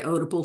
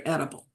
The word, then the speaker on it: Oedipal: Some people say Oedipal, some people say edible.